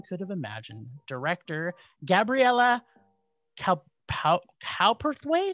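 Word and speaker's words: Cowperthwaite: have imagined director gabriella calperthwaith is that how it's pronounced calperthwaith um or is it cow perth ways i say what it's cow perth weight cowperth weight and written by brad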